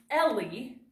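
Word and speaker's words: Elie: to pronounce her author's name his name is Ellie then you pronounce this V said very strange having name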